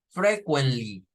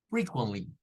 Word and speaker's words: frequently: son así para comenzar la primer sílaba no suena fre suena a free free free luego la segunda sílaba es todo esto hasta la t con unaa no es es una ch y luego frequently frequently